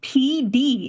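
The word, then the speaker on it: Pee Dee: farm in the rural PD. Is that PD. The name of the place? Yeah, it's the rural PD. Yeah. P spelled like urine.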